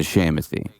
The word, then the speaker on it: Shamothy: You know, so I was like, no, it's like Timothy, but a fake name, so it's a Shamothy. And that was like how so like whenever I'm like telling people, they're like, oh, how do you say this? I'm like Timothy, but Sham, you know?